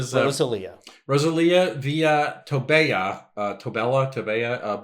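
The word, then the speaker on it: Rosalía: are named Rosalia right some people pronounce that name Rosal she's Rosalia the the accent G is over the I that is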